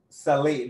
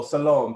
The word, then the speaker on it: Salome: Who did Herodai, I'm not pronouncing it right. I don't want to butcher it. But who did the mother, Salim, there you go, Salome, thank you.